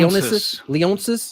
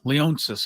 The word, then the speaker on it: Leonsis: how do you say Ted Leon Ted Leon leonsis leonsis I believe Ted leonsis plans to move both